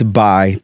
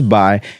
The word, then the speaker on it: Mbai: My first and last name is Mbai. The M is silent, and I'm from Kenya. So it's Mbai.